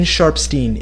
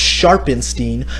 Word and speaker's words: Sharpstein: Today we're going to cover Weston Sharpstein, aka Kablam Bandicoot 64. Now yes, I know his last name is technically pronounced Sharpenstein, but I intentionally mispronounced it because let's be